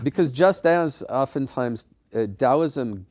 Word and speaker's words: Taoism: just as often times dosm gets mispronounced because of that t- spelling yeah is TSM uh often times I